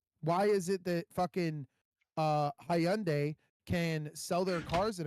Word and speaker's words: Hyundai: Why is it that fucking Hyundai can sell their cars in America and only pay a 3% taxes on every single car sold?